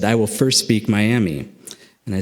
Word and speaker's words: Miami: That's how you say it in Oklahoma, is Miami.